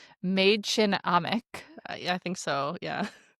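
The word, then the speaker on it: Mädchen Amick: And then Sherry, who is played by I assume that you looked this up and spelled out how to pronounce her name. Maid Chin Amik.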